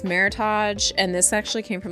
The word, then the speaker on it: Meritage: And um ChatGPT got like all snarky with me and was like, "You mean Meritage wine." Pronounced, you know, and then it pronounced it for me. Not merit age.